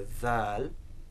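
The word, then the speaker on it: ذال: So the dhal, as we've now mentioned a few times, is the voiced English TH, so it's a buzzing sound, produced in words like this and that, so dhal.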